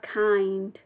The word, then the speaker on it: kind: They are kind. Chú ý cái chữ kind. Đọc là kinder nhẹ, có cái âm gió nhẹ.